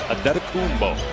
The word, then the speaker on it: Antetokounmpo: Pronunciation guide in the Milwaukee game notes, it is Antetokounmpo.